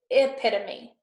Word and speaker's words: epitome: So it's E. To say it, it's epitome, but it does start with an E, E-P-I-T-O-M-E, okay?